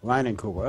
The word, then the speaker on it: Leinenkugel: Leinenkugel. Okay, that's it. That's how you pronounce it.